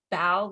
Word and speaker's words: bao: pronounce bao and that it's bao like to bow for someone instead of bow so that's helpful but